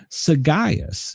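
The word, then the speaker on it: sagacious: Sagias is how it's pronounced.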